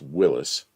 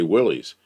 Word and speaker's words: Willys: Danny Boyd spells it like it's pronounced Willis, not Willies. But if you go to you go to a place where people are showing old Jeeps, they'll all say Willys.